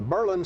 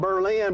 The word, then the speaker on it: Berlin: John, I love the pronunciation in that area of Berlin being Berlin. It's spelled Berlin, but nobody wants to have anything to do with Germany. All they want to do is say it the way they want to say it, Berlin.